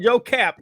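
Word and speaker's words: Joe Kapp: That was his name, Joe Cap.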